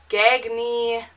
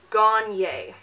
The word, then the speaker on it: Gagne: a G and E and it has been mispronounced so many ways like honestly we've got gag me gag me that ends on sexual at all if you've